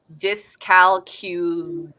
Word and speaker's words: dyscalculia: sing it at him dis calcula is how you pronounce dyscalculia okay my child was